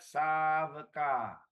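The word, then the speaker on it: sāvaka: Except the third line, last word, you forgot savaka. Savaka. Yes, long A. Meaning there's many, many savakas lah. It's plural. You pronounce savaka, it's single. Okay?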